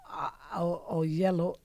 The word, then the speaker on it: Oyelowo: And we have a special tribute that will be done by David, and I always get his last name wrong, Oyelowo, exactly. David Oyelowo, who plays my father in the movie Selma.